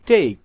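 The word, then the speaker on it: take: তা অনুচ্চারিত থাকে যেমন টি এ কে ই টেক এখানে শেষের ই উচ্চারণ হয়নি টেক টেক অর্থ নেয়া মেক মেক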